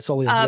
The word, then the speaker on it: Solium: When the human jerks enter is it Solium? Is that right? Am I pronouncing Yes, that right? that's right. Solium.